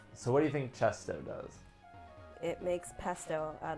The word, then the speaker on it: Chesto: I was going to say it's very easy to remember what Chesto does because it rhymes with resto.